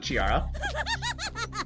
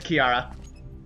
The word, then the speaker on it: Chiara: on the other chara did you pronounce it chiara his name it's kiara oh yeah okay well